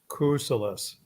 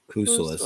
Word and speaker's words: Kousoulas: Kousoulas. Kousoulas. It's pretty easy. In school, for some reason, I do pretty good pronunciation, but I had to go through little